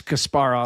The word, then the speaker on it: Kasparov: that first syllable or putting the emphasis on the first syllable and we learned that it was wrong.